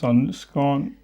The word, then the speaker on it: Sandnesgarn: to, I have no fucking idea how to pronounce this. So we're starting with a very popular Norwegian yarn brand, Sandnesgarn. It's Sunscone.